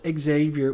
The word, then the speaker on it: Xavier: Um, and Logan says here interestingly, that's Xavier with a long A, not a short. So, was she saying, was she pronouncing um, Zavier?